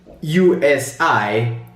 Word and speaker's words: USI: USI, pronounced USI in German, the University Sport Institute.